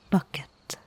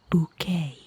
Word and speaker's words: Bucket: His name is Hector Ebenezer Bucket. He insists it's pronounced bouquet, but it's spelled bucket, so that's what I'm gonna say.